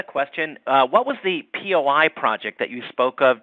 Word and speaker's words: POI: uh what was the POI project that you spoke of during the the the webinar David POI it's called po I think or at least that's what Calhoun calls it pronounces it it's Paul Cal